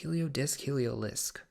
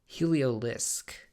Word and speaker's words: Heliolisk: Is it Heliodisc? Heliolisk.